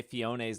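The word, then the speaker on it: Phione: It looks like I wish Fiona showed up instead so people would actually say Fiona's name right. I'm saying it right now. It's Fiona. Manaphy will teach Ditto how to have fun underwater.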